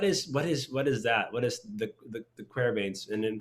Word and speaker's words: De Quervain: I've always heard it pronounced Decrevins, tenosynovitis, but I mean tomato, tomato, right?